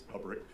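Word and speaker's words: Lebryk: And um I believe you were approached by the highest ranking career official at Treasury, David Lebrick. Is am I pronouncing his name correctly? I believe it's Leick.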